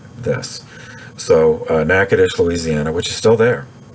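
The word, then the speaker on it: Natchitoches: uh sandini or saint dennis s-t d-e-n-i-s now nakatish uh even locals have trouble spelling this so uh nakedish louisiana which is still there is spelled n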